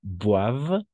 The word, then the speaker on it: boivent: Ici, une fois encore, ENT no se pronuncia, es mudo siempre cuando se trata de un verbo. ¿De Siempre que se trate de un verbo, entonces no se pronuncia. Entonces, ils ne boivent pas de café.